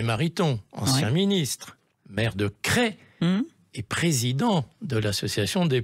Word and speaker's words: Crest: Alors, attention, il faut bien prononcer Crest, ça s'écrit C-R-E-S-T, donc on a tendance à dire Crest, mais c'est Crest comme s'il y avait un accent circonflexe.